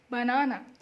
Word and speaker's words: banana: We give a little press to the second syllable, so banana, la la la, mimi, da da da, banana.